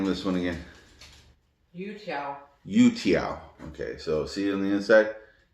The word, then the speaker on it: youtiao: Youtiao, not UTRs.